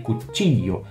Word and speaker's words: cuchillo: Em algumas regiões como Argentina e Uruguai, a gente tem o LL, né? La E. Você pode ouvir cuticho, cuchillo. Aí depende da região. Eu gosto de pronunciar uma forma um pouco mais neutra com som de i. Cuchillo.